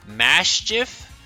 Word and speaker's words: Maschiff: today we're looking at I believe it's pronounced mashi and Mao stiff I don't know why but the the SC for whatever reason my brain's just like that's impossible no human has ever made that noise with their mouth before so the anime hasn't put it in an episode yet but I assume it's pronounced maschi signature trainer we usually